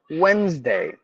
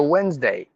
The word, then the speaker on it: Wednesday: vehicle vehicle vehicle and then Wednesday the D is mute e is mute for the yes you have to give a z sound so Wednesday Wednesday so that is it